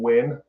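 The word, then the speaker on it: Nguyen: Houston and uh the the last name win common last name do you know do you know how that's spelled is it wh n no it's like n g u y n oh yeah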